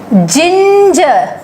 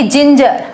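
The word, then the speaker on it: ginger: Messenger, ठीक है, जिंजर, ई भी यहाँ पर आई भी आया, ई भी आया, ई आई वाई, तीनों केसेस में हम ज पढ़ते हैं ना, तो यहाँ भी हमने ज पढ़ा, यहाँ भी हमने ज पढ़ा।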